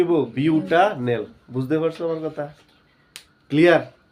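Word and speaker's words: butanal: এর উচ্চারণ কি হবো? বিউটা নেল।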